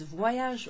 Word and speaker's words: Voyage: Listen to the way that Y, the Y, se prononce. Voyage, voyage. The V-O-Y, voy, voy. It's as if there's a W in there.